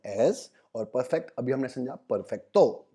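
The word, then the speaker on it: perfecto: तो परफेक्ट को हम स्पेनिश में बोलते हैं परफेक्टो। परफेक्टो। अब देख रहे हो मैं कैसे बोल रहा हूँ, परफेक्ट नहीं बोल रहा, परफेक्टो, परफेक्टो। जी, हमको ध्यान देना है प्रोनाउंसिएशन पे भी, तो इट्स परफेक्टो।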